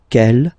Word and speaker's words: quel: And the good news is that you will pronounce them the same way. All right, so quel, quel, quel, and quel.